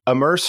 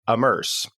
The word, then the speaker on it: AMMERSE: the and I think I said it incorrectly so let me correct myself the immerse framework which is spelled am M RS e amerse and that's what we're